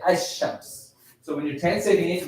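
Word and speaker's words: الشمس: The other Ash-Shams, these letters, you say and you don't say the lam and you mix them and say Ash-Shams.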